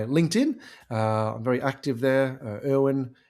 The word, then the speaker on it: Irwin: Irwin, as in Steve Irwin, Irwin, and, as in how do you do, pronounced, but spelled.